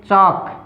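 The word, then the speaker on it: chalk: अब देखो चाक, CHAL के हमें लिखना पड़ता है चाक। चाक की स्पेलिंग हमें क्या लिखनी है, चा, CHAL आता है स्पेलिंग के अंदर, लेकिन जो एल जो होता है ना वो साइलेंट होता है, कब, जब इसके साथ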